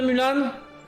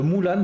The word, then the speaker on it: Mulan: Je suis pas un grand fan de Mulan. De Mulan plutôt. Je reprononce correctement.